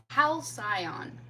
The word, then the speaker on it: halcyon: And I'm fairly sure I know how to spell it, but I just want to make sure. Okay. Halcyon.